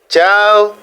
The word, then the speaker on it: ciao: C se prononce ch devant E et I. Par exemple, ciao, salut, francese, voyez, C, E, ça fait ch, francese, ciao, francese, français, ciao, salut.